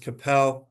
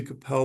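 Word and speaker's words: Qapel: and I believe it's pronounced Capel Medical, Q A Pel, um, for unauthorized changes to their devices that were inconsistent with their 510K clearances.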